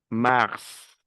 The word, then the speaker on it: mars: Février, mars, mars. Se pronuncia la S final. Aquí es una excepción.